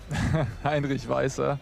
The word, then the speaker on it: Heinrich Weiser: Heinrich Weiser.